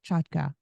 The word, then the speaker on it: Chotka: go by that sure you you pronounced my name correctly so kudos to you it's a Ukrainian name now everybody in America